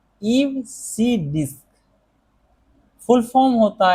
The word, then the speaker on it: EBCDIC: इसका जो प्रोनाउंसिएशन है वो होता है ईव सी डिस्क।